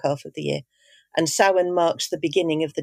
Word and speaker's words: Samhain: Tell us a bit about this festival, which isn't pronounced Samhain, but that's how it's spelt. Is it Samhain? It's pronounced Samhain, yes.